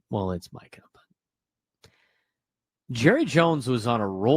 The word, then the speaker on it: Micah: As Jerry Jones said, it's Michael Parsons, not Micah. God. It's Micah.